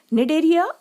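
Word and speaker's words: Cnidaria: भी बोला जाता है नीड एरिया मैं यहां पर सी साइलेंट रखा गया है दूसरी ओर एनिमल्स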